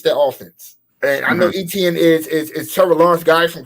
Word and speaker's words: Etienne: How you pronounce it? Etienne, Travis Etienne.